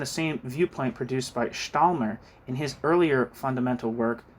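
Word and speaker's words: Stammler: Jesus Christ, I was saying his name wrong. Stalmer.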